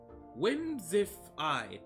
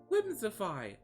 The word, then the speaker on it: Whimsifay: Whimsify. That's how it's pronounced, but it's spelled Whimsifay. Whimsify.